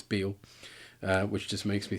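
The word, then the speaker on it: Bele: this the ship disintegrating but then it has transported another black and white dude aboard this is b or Beal I should say it looks like B the way it's spelled but it's Beal uh which just makes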